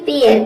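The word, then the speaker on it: pair: हैं rule number सात ई आई के बाद आर आ जाए तो ए आई को हम ए प्रोनाउंस करेंगे जैसे कि यहां पे देखिए पेयर पेयर में ए आई के बाद आर आया है तो यहां पे ए आई को हम एओ प्रोनाउंस करेंगे पी क्या हो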